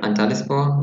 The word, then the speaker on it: Antalyaspor: Okay, I try to pronounce it, and if you correct me if I'm pronouncing it wrong. Anyway, so Al Anispor, Antalyaspor. Yeah. Antalyaspor.